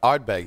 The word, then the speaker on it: Ardbeg: We are pairing today's cigar while we speak to Richard with Johnny, how do you pronounce that? So, that's going to be Ardbeg.